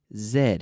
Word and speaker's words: zed: Z Z or Z in the United States they say Z everywhere else in the world English speakers say Zed including Canada yes so